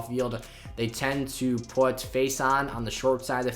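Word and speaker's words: Facyson: Casey Hayward and Brandon Faison, or Faison, I believe is how you actually correctly pronounce that.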